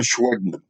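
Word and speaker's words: Schwegman: store chain owner by the name of john schweigman let me spell that one for you s-c-h-w-e-g-m-a-n he was a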